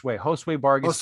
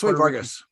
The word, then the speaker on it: Josue Vargas: They call him, it's pronounced Josue Vargas. Josue Vargas.